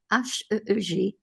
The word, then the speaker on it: Heeg: En hollandais, c'est Heeg. H-E-E-G. Heeg.